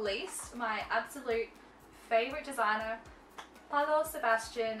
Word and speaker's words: Paolo: But certainly not least, my absolute favorite designer, Paolo Sebastian. I'm pretty sure that's how you say Paolo, but I just find it's more fun to say it like Paolo.